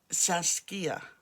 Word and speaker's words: Saskia: She's very much, she's a single child and lives with her mother, Saskia. I often pronounce that wrong, but that's the way it's pronounced, and calls her Sash.